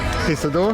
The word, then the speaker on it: Pisador: El Pony Pistador pizza door. Pisador. It's like a pizza door.